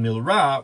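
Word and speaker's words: מלרע: or the early syllable, and milra, which is when you put the emphasis on the second or the last syllable of a word.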